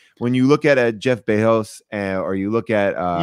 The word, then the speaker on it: Bezos: you look at jeff bezos or you look at uh you can pronounce the z it's not bajos it's basically but brazil